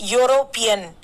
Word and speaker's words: European: a european you pronounce it it should be pronounced as european european so you your sound is there and